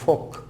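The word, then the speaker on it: folk: তো এখানে প্রথমে হচ্ছে এল। এল যেখানে যেখানে আমরা সাইলেন্ট রাখি সেগুলো তোমরা এখন দেখতে পাবে। যেমন আছে আমরা বলি ফোক, ফোক মানে হলো ম্যাস পিপল, সাধারণ মানুষকে আমরা বলে থাকি ফোক, জেনারেল ফোক।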